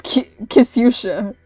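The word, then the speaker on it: Ксюша: I've been saying her name wrong. It's Kyusha.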